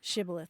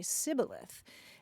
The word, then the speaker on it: shibboleth: the word shibboleth, because the Ephraimites couldn't say shibboleth. They would say sibboleth.